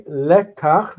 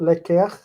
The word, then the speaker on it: lekach: Okay, lekach, because it has the guttural, takes the patach instead. So it's not lekech, but lekach.